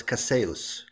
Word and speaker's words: Casillas: It's a French Haitian, so it's Casillas.